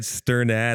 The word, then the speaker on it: Strnad: So it's really said Strnad.